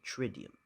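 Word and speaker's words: Triduum: it tridium let's see how do you pronounce this trium tridium okay tridium uh prior to the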